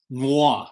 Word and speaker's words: noir: city festival the 20th say it like mommy noir noir city festival and